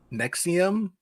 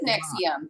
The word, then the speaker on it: NXIVM: I think it is Nexium, but it's like these weird symbols that hardly look like letters. Yeah. NXIM, is it? Yeah, or Niv Nexivium. It's NXIVM. I couldn't remember how they pronounced it. Okay. I thought it was Nexium.